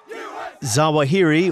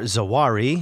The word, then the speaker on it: Zawahiri: Zawahiri, or Zawari, his name is pronounced different ways it seems, had what you might call the typical jihadi resume.